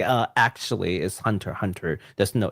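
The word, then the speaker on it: Hunter × Hunter: always I've always said Hunter x Hunter for the longest time until like someone corrected me he's like uh actually is Hunter Hunter there's no the X is not pronounced I was like well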